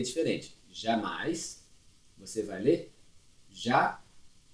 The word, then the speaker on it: jamais: Jamais, você vai ler jamais. Você não pronuncia o S, não é jamais.